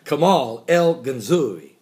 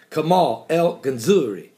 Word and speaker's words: Kamal el-Ganzouri: Like Missouri, but Ganzouri. I can nail this one. Kamal el-Ganzouri. Ooh, let's do it again. Kamal el-Ganzouri. Nah, one more time. Kamal el-Ganzouri. That's it. That's exactly how you say it in Arabic.